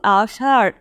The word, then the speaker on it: আষাঢ়: দেখো এটাকে আমরা এই যে আষাঢ়, এই উচ্চারণটা আমরা জেনারেলি করে থাকি কি আষাঢ়, কিন্তু আষাঢ় র ঢয়বিন্দু র।